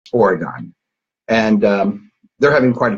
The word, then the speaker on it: Oregon: which when I was younger I called it oregano and it wasn't until I got out here